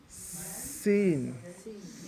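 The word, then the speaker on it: س: now this letter is you have to use a lot of whistling sound to come on sit okay seen me scene so it's like you're blowing air between you two teeth alright seen it sounds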